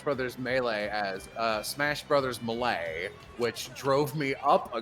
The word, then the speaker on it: Melee: But he pronounced Super Smash Brothers Melee as Smash Brothers Melee, which drove me up a goddamn wall. Malay.